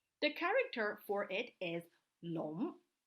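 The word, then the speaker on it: 龙: don't say dragon the character for it is long it's pronounced long stay with me long it looks like this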